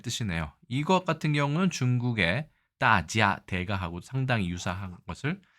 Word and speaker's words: 大家: 이 대가는 우리나라에선 대가라고 읽고요. 자, 영어로 구조하자면 마스터나 마에스트로 혹은 expert의 뜻으로 사용되는 전문가의 뜻이라고 한다면 중국에서 회화에서 가장 많이 쓰는 것은 따지아라고 읽고 모든 사람, everyone, 여러분 등의 뜻으로 가장 많이 쓰이고 있습니다. 반대로 일본에서는 오야라고 훈독을 하면 이건 새집 주인, 임대인,